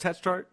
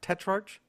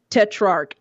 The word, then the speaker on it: Tetrarch: it is it pronounced test chart tetrarch tetrarch so it's kind of like if the CH was a k okay but you said